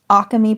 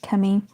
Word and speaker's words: Akemi: Some people do pronounce it Akemi, but it's pronounced Akemi.